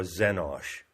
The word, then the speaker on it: Xenosh: So X stands for Xenosh. And it's spelled X C N O S H. So the letter X is pronounced as a Z.